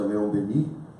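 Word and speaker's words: Léon Denis: De acordo com o apóstolo do Espiritismo, Leon Denis, que a gente pronuncia Leon Denis no francês, ele costumava dizer que a gente dorme na pedra, sonha na planta, agita-se no animal e acorda no homem.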